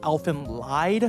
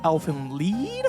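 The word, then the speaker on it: Elfen Lied: I've also spent my entire life up to this point pronouncing the title as Elfin lied, but apparently it's supposed to be pronounced Elfin Lead.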